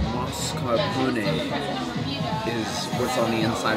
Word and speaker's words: mascarpone: This fresh Italian cheese is pronounced mascarpone.